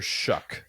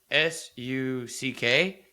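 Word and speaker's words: Shough: But will my question to you, have you pronounced Tyler Shuck successfully yet? Second topic. I knew it. Um, I feel like it's and I'm trying to say is it s u c k shuck?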